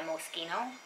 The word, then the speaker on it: Moschino: i love love by moschino i think they pronounced that mosquito i think i was corrected anyways that's that and